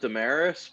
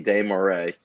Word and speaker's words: Desmarais: I pronounce it Damaris, but Oh, okay. like the real like French pronunciation of my name would be Desmarais.